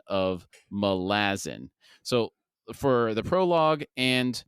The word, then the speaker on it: Malazan: interview with Stephen Erickson he in fact does say malazin now the confusion came because some of his interviewers they'll pronounce it Malazan which I'm used to pronouncing or malazin so and he doesn't